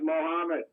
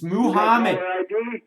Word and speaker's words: Muhammad: This is Mohammed. It is not. You got to say it right. It's Muhammad.